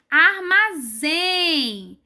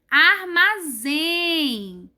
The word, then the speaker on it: armazém: Na próxima palavra, temos armazém. Armazém. O zen é falado mais forte, né? Com mais força do que o arma.